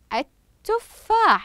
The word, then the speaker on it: التفاح: الشمسيه ايضا اتفقنا على ان اللام الشمسيه ماذا تكتب ولكن لا نقوم بنطقها وان الحرف الذي بعدها ياتي ماذا مشددا احسنتم كما في كلمه التفاح اذا نكرر الكلمه خلف المعلمه التفاح اذا لم استمع الى